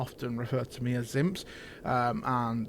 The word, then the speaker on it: Zympzz: So Zympzz is pronounced Zympzz. It's spelled Zympzz, and it's pronounced Zympzz. Not Zympzz, not Zympzz, Zympzz. Simple, one word, Zympzz.